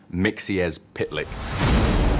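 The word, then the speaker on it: Mxyzptlk: it it's one of those tricky ones it's pronounced mixies pitlike there is so many characters that we've just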